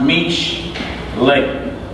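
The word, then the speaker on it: משלי: It's pronounced mish lay. All right, put it down here how it's pronounced. All over mish lay. Mish lay. That's how you say proverb. When you read proverbs in Hebrew, it'll say mish lay.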